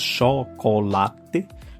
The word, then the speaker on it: chocolate: We have chocolate, same, chocolate, but the open sound is chocolate, chocolate.